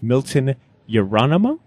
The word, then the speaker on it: Milton Yerolemou: I am sitting with Milton Yerolemou.